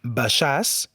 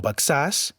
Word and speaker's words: Baixàs: Així pronunciarem Baixàs i no Baxàs, Marquixanes i Sant Miquel de Cuixà.